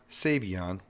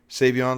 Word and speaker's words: Savion: It's pronounced Savion, even though, it starts with a C, so I was fooled. But Savion, let's watch this man's sack.